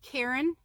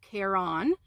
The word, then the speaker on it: Caron: Now I pronounce it Karen, but it's I've seen people call it Caron cupcakes.